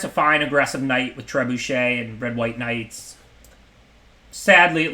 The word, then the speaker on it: trebuchet: It's not trebucket or whatever. It's trebuchet, I think. I'm assuming it's a French word.